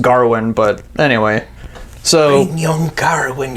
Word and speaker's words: Gawain: Gawain. Gowan. I was always top Gawain. Yeah. Same here, yeah. Right. I never heard it pronounced Garwin, but anyway.